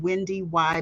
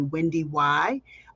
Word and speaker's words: WendyY: those of you who don't know me I'm Wendy y everyone calls me Wendy y uh yes you do pronounce the second why and I'm a 20